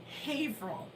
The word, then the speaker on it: Haverhill: Because the town that he's from is spelled Haverhill, but it's not called Haverhill. What's it called? Haverhill. It's not spelled Haverhill. It's spelled Haverhill.